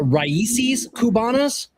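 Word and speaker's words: Raíces Cubanas: going to try I'm going say uh uh Ryes Kubanas.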